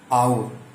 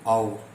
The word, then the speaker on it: hour: okay friends, देखिए friends, अब यहाँ पे HOUR और आउर, इसको प्रोनाउंसिएशन करेंगे, उच्चारण करेंगे दोस्तों आउर, तो इसमें से हमारा दोस्तों आ निकल के आता है दोस्तों, आ साउंड निकल